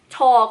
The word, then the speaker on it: Thor: [This is a common problem for Thai people, because we don't have the Th sound, we only have the T.] So, Thor it is. If you wanna do Tor, it's also not wrong. I guess it's Norwegian style?